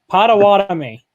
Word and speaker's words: Potawatomi: from Potter I'm not even gonna try and pronounce that I don't want to try Potawatomi thank you I wasn't even gonna try that